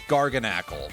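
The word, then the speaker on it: Garganacl: Anyway, uh, its normal name is Garganle, which is spelled G A R G A N A C L. So, like gargantuan and knackle for sodium chloride.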